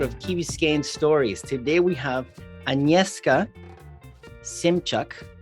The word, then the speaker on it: Agnieszka Szymczak: Today we have Agnieszka Szymczak.